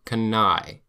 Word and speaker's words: Cannae: A-E is pronounced I, like eyeball. The Battle of Cannae.